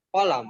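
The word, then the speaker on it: قلم: Hadza Hadza qalamun. qalamun. Kalau karena nggak ada yang panjang, maka pelafalannya ditekan di awal. Kolam. Di koknya. Kolam. Qalam. Ya. Kolam. Hadza kolam. Kolam. Koknya ditekan.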